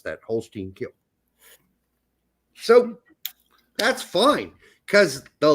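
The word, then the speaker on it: Holstein Kiel: more offers expected yes that is how you pronounce that Holstein kill so that's fine CA the leads fans hate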